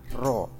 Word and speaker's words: rho: Ini cara bacanya adalah rho.